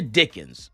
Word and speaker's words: Dickens: Elijah Dickens. Say his name. Dickens. Say his name. Elijah Dickens. Elijah Dickens. Say his name. Dickens. Yeah. Oh, I'm saying with the S at the end? No S. Okay. Elijah Dickens.